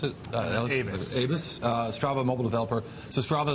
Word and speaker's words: Aybes: I'm joined right now by Alexandre Aybes, how you pronounce it? Aybes, Strava mobile developer.